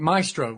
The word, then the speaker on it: Maestro: How do you pronounce it? My grandparents had one. Maestro.